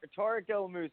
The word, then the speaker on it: Tarek El Moussa: special guest star Tarek el el Moussa I pronounced it right right yes you said it right Tarek el Moussa it's a tough name to say man and